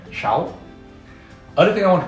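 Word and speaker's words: sáu: So this is pronounced shao. Now, you may have heard that this sound pronounced like SH. In Vietnamese, the consonant S has an SH sound.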